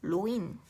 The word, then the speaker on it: 노인: 노인, 연세는 연세, 그래 연세, 네 연세가 있죠. 한자어는 원래 로인과 연세로 발음해야 하는데 얘는 노로 발음하고 얘는 이응 연세로 발음하잖아요.